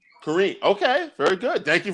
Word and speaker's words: Corinne: going to learn about her stand-up comedy today corinne welcome to the show oh thank you it's actually pronounced korean korean okay very good thank you for letting me